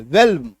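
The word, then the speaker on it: whelm: exception भी है एक एक्सेप्शन है छोटा सा डब्लू एच ई एल एम है ना एम से पहले एल है लेकिन इसमें एल का उच्चारण हो रहा है वेलम एल का उच्चारण हो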